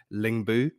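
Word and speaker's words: Lyngby: as i'm constantly reminded the danish pronunciation is lingbuu i think i believe so i'll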